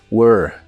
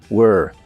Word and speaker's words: were: y suena como monstruo were were la e del final no se pronuncia solo were were ahora